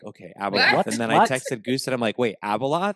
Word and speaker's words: Abeloth: And I was like, "Okay, Abaloth." And then I texted Goose and I'm like, "Wait, Abaloth." And Goose is like, "Yes, Abaloth." And uh, so like Ab L O like spell it.